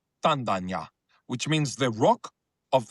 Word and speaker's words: Tandanya: But Tanda, Ganya together is pronounced Tandanya, which means the rock